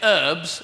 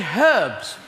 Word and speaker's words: herbs: we say basil and you say herbs and we say herbs because there's a H in it so on this